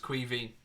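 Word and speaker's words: Caoimhín: way it's the Irish for Kevin and it's pronounced qui V I know what other people and I will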